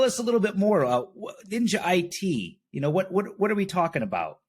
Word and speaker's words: NINJA-ITi: Okay, John, today we're going to talk about NINJA-ITi, but the last I is silent, and that is bringing back my martial arts expertise.